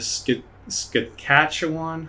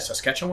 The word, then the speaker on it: Saskatchewan: and most awesome study out there is the ski scatchawan how do you say that saskatchewan saskatchewan canada it was from 1993 to 2004